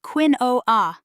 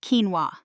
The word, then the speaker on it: quinoa: Last week I tried to order quinoa at a cafe and called it quinoa instead of quinoa.